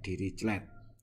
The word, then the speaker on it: Dirichlet: Itu disebut sebagai ini apa bacanya gimana? Dirichlet.